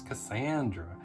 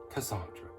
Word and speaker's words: Cassandra: I didn't even know that's how you pronounced her first name. I thought it was Cassandra. But no, she even says it, spelling it out in the story, Cassandra.